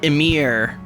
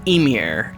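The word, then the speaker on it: Ymir: uh they always um the emphasis is always on the first syllable like it's never imir it's Emir it's not be frost it's be Frost um I kind of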